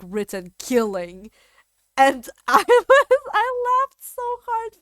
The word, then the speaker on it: kitten: Bro, did you know that in Danish, the word kitten, I think it's like pronounced like killing or something like that, but it's spelled like killing.